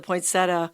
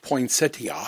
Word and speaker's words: poinsettia: So, from what country does the poinsetta, the traditional red flower come from? And the reason I know this is cuz your mother used to talk about poinsettia.